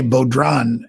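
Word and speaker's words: bodhrán: but uh i i i'm going to say beaudron is the pronunciation b-o-d-h-r-a-n but you've got to tune in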